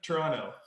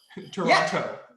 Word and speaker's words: Toronto: I think that's a very Canada thing that we don't pronounce our T's. Yeah. They're- It's same with like Toronto. Toronto. Yeah. Oh, yeah. Yeah. It's Toronto.